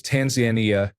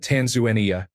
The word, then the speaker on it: Tanzania: I learned that locals pronounce Tanzania as Tanzanian, not Tanzuania.